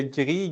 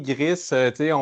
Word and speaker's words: GRI: Bon, là, le GRI, GRIS, les deux prononciations sont acceptées.